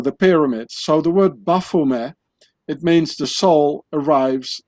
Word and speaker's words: Baphomet: has to be pronounced buffume because the knights templars they spoke french and not english so the t at the end of baphomet it's not being pronounced in french so you say buffume and ba in the